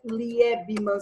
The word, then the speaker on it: Liebman: Liebman se fala Liebman. L-I-E-B-A-M. L-I-E-B-A-M, tá certo? De Liebman. L-I-E, deixa eu só colocar aqui, L-I-E-B-M-A-N. Agora sim, Liebman. Escrevi certinho. Teoria eclética de Liebman.